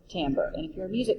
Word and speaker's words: timbre: And yes, it is pronounced timbre.